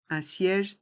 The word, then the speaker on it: siège: le qu le quai un siège un strapontin un siège un strapon teint dans le mot siège les voyelles I et E ici e accent grave se prononce ensemble siège un siège un